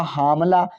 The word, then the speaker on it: हमला: दी, तो यह हुआ हामला। तो हामला उच्चारण सही है, गलत है। सही उच्चारण हमला है।